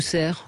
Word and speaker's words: Cerf: On dit Cerf ou Cerf? Cerf, hein, on ne prononce pas le F.